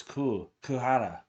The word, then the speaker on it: Goo Hara: So that's how you say it. Not Goo, it's Goo Hara.